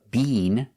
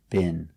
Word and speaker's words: been: I've never been there let's talk about the pronunciation of B we don't use the long e Bean they do that in England but in America we don't say Bean we make the short i b bin have you ever been